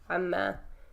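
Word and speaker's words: عمّا: Yeah, you pronounce it that way because you have a noon and a meme coming right after each other, so they end up contracting. Okay. So an ma becomes amma, right?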